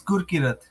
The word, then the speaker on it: Gurkirat: I hope I'm pronouncing your name right, Gurkrit. Yes, Gurkrit. Yes, sir. Yes. You're pronouncing it all right. I'm just working on the VATI right now. That's why I wasn't able to look at like my hand was raised. Okay, no problem. You're good. You're good. Am I pronouncing your name right, Gurkrit? It's Gurkirat.